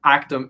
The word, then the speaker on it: ACTUM: ACTUM, not Yes, that's ACTUM.